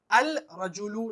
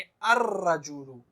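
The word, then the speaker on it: الرجل: जब हम इस पर अलिफ लाम लगाएंगे तो हम अल रजुलु नहीं कहेंगे, लाम के साउंड को खत्म कर देंगे। लाम यहाँ पर साइलेंट रहेगा, डायरेक्ट अलिफ को रा से जोड़ेंगे और कहेंगे अर रजुलु।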